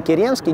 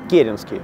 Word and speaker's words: Керенский: Он сам об этом в своей книжке пишет, да, что его часто называют неправильно Керенский, нет, Керенский, ударение на первый слог.